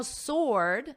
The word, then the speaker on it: sword: Now, sword, notice the W is totally silent. Ord, or, sword.